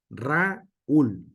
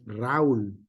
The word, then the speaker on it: Raúl: En el sentido es Raúl, no es Raúl, ¿sale?